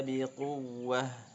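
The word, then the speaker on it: بقوة: Ya Yahya khudil kitaba biquwwah biquwwah ya. Huruf waw sukun yang maaf waw bertasydid ada istilahnya sifatnya naber ya. Naber itu seperti sedikit hentakan atau tekanan ya.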